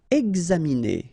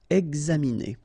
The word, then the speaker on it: examiner: Examiner. Okay, it's interesting here because you've got this X and then you pronounce it X. Examiner.